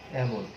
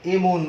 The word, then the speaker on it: এমন: যেমন একটি শব্দ আমরা যদি নেই, এমন, এমন, এটার উচ্চারণ কিন্তু এমন আমরা বলবো না, এমন না, এমন। তুমি এমন করছো কেন, তাই না?